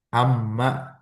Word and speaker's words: أمّا: Nah, sekarang kita akan masuk amma. Kalau tadi kan ama tidak ada tasdidnya, sekarang ada tasdidnya.